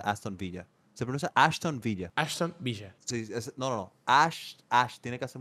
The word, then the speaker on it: Aston Villa: ese pronuncia Aston Villa se pronuncia Aston Villa se produce Ashton Villa Ashton Villa tiene que